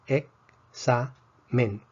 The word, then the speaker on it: examen: Examen tiene 3 sílabas. Ex-sa-men. Vemos que la X realmente representa 2 sonidos, K y S. Entonces sería ex-sa-men.